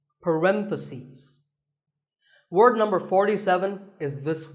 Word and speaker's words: parentheses: stress is on random if you're talking about both the plural is parenthesis the last syllable becomes cease parentheses word number 47 is